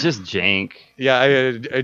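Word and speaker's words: Cenk: It's just Jank. Yeah, a Jank, but it's spelled like Uyghur.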